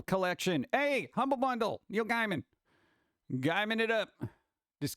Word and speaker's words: Gaiman: There happens to be a Humble Bundle for Neil Gaiman Dark Horse graphic novel collection. Hey, Humble Bundle. Neil Gaiman. Gaiman it up. This guy, man.